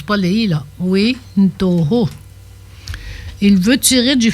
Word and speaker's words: ui: Le verbe vouloir qui s'écrit u I qui se dit oui comme ça. Oui ou non. Il se prononce oui. Non non pas pas pas de comparaison avec le français. C'est pas oui ou non, c'est u i vouloir.